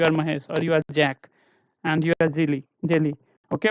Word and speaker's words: Jack: Is bin Kundan, and do based Jack or Yak. Okay, name you have to pronounce like the same way they want themselves to be pronounced, not like Yak.